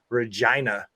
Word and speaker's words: Regina: He's from Regina because it rhymes with fun.